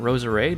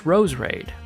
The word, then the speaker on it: Roserade: And so, apparently this Pokémon is not Roserade like I've been saying for the last 20 years, it's Roserade. Roserade always made more sense to me because it sounds more like masquerade, but Roserade it is I guess.